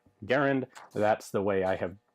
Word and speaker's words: Garand: a somewhat more obscure as in errand Accent on the first syllable or according to the Merriam-Webster system of marketing Garen so that is how